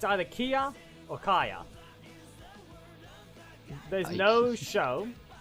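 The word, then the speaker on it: Kiya: I would pronounce it Kia. All I've done is just constantly say Kaya instead.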